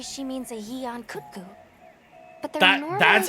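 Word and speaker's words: Yian Kut-Ku: Alma very much stressed it as 2 syllables. She very much went Yeon Kutku, and then we went Yan Kutku.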